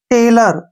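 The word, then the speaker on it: tailor: ए के रूप में यहां पर देखिए लर ल के बाद आ की साउंड आ रही है लर ठीक है ना ल र लर तो यहां पर ओ को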